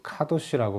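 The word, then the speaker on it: קדוש: 성경에서 말하는 거룩이라는 말은 히브리어로 카도시라고 발음하는 단어인데 이것은 무겁다는 의미가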